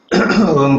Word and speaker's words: ओम: इसमें ओम को जो उसके तीन सिलेबल्स हैं अक्षर हैं। अ, उ और म उनके उच्चारण के साथ करना बेहतर है।